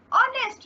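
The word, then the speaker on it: honest: एन ऑनेस्ट मैन, अब देखिए यहाँ पे साइलेंट एच है, ओ का आ रहा है ना, ओ का साउंड आ रहा है इसलिए एन लगा देंगे, ठीक है।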